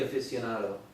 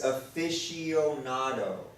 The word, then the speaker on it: aficionado: didn't say it right. It's aficionado. All right. You have to say it there's slow. a C-I, aficionado. Or I'm You saying with a say- Spanish you say accent. it in Spanish. Yeah, I'm sorry. It's a afio. It's my Peruvian influence. It's a aficionado, and the C is silent.